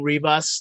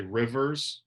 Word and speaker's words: Rivas: I think it's Rivas, like Beavis, but with an R. But I don't. Some people say Well, Rivas. Some people say Rivers. A lot of pizza places will just say Rivers.